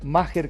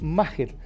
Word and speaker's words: Maher: buscado por los colegas, Maher Carrizo, que así se pronuncia. Yo se lo pregunté en la zona mixta porque se escribe Maher, M-A-H-R, Maher. Y es Maher.